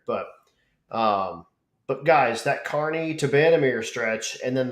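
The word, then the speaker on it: Kearney: that first leg from no is it cerney Kerney yep car Carney is how pronounced but to toir oh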